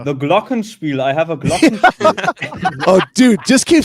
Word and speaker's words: Glockenspiel: I have a Glockenspiel. Oh, dude, just keep saying Glockenspiel. That sounds amazing. I mean, the funny thing is, I pronounce it like it's an American word, but it's Glockenspiel. You would say Glockenspiel.